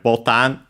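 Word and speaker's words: ボタン: Then we have botan as usual uh unacented and while it means button it's a slightly different pronunciation is because it's actually from Portuguese and so we have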